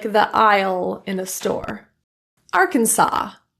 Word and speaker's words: Arkansas: Arkansas, the second S.